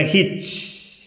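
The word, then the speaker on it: hitch: അതുപോലെ ഹിച്ച്, ഉച്ചാരണം വരുന്നില്ല.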